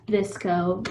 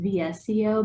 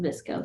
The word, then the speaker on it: VSCO: of you heard of this go i had visco back in like 2012. i always thought it was pronounced vsco but the younger folks that it's pronounced visco so we'll go with that so good deal